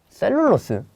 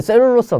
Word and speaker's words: 셀룰로스: 생물체에서 생물체에서 셀룰로스는 그것을 둘러싼 다른 물질과 복잡하게 얽혀 있는데 잠깐만 셀룰러스 이거 자연스럽게 이렇게 생각들지 않아? 아까 봤는데 봤는데 이거 어디서 봤는데 한번 볼까? 여기 있네. 셀룰로스 근데 셀룰로스가 뭐래?